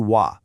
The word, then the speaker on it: は: Normally you'd pronounce it ha but when it's acting as our topic particle and only then the sound totally changes to wa.